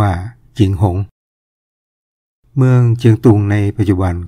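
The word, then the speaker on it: 景洪: 1 เมื เ เมือง เชียง หุง นี่ ก็ คือ เมือง เชียงรุ่ง ที่ เรา ออก เสียง ว่า เชียงรุ้ง คำ นี้ ใน ภาษา จีน ก็ ออก เสียง ว่า จิงหง เมือง เจียง ตุง ใน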